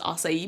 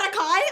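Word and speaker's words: açaí: Also, I just want to say I hate that acai is pronounced acai because every time I have it in a joke, I stutter, I stumble, I'm so insecure about it. Is it not acai?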